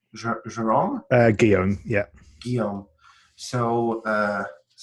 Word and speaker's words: Guillaume: say one more thing, and I'm going to say your brother name we pronounce Jerome. Guillaume, yeah.